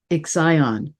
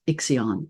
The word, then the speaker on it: Ixion: let me just note I call this planet exion rather than it's commonly referred to as iion and both pronunciations are are correct but I think iion with the emphasis on the ey in the middle of the name somehow